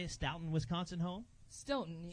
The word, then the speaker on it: Stoughton: Stoughton. Stoughton.